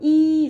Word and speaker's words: 医: 病人多医生 So E is first tone, which is high tone.